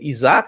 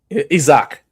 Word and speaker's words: Isaac: Isaac. Isaac, okay. I'll tell you something. When I interviewed him, I actually spelled his name Eezak, just so I would say it right.